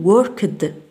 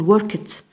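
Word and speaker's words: worked: فور إكزامبل نقول لا نقول وركد لا نقول وركد نقول وركت وركت. واي وي هاف كا إت إز كا تو فروم تي من تي.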